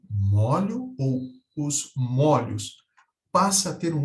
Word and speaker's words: molho: caso que nos interessa molho e molho mesmo e não a Apesar dessa distinção de pronúncia não há uma marcação gráfica na palavra não há nenhum acento que marca essa diferença de pronúncia é o molho e